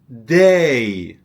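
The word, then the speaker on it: دی: Zon starts with the first month is day. Day. Yeah. It is pronounced just like the word day in English.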